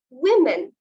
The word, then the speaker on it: women: আমরা এভাবে উচ্চারণ করে থাকি, but it's not women, it's women. The word should be pronounced as women.